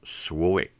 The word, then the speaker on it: Swoley: Instead, he called her Swoley, pronounced to rhyme with holy, in reference to the fact that she was never to be seen without her eye makeup on.